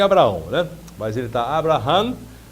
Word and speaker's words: Abraham: novo ministro da Educação, o Abraham Weintraub, a pronúncia do cidadão é isso aí. Ele disse que é Abraão, né?